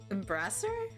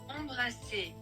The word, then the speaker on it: embrasser: Embrasser?